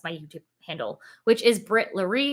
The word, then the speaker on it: Brit Larry: YouTube handle which is Brit Larry if you don't know how to say it it's my my name is Brittany my limit my middle name is Larry so I just smashed it together because I was just